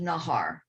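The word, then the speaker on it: Najar: direct line too it's naj ar but it's pronounced nahar nahari yeah but it's pronounced it's spelled n-a-j-a-r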